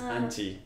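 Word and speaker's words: アンチ: And in this specific case, it comes from anti-fans. So, okay. The haters. That's how you're going to call them in Japanese. Anchi.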